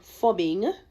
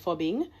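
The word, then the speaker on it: phubbing: uh found that so-called fubbing that is ph u bb I n g you know that I'm assuming that's how they pronounce it fubbing uh snubbing someone in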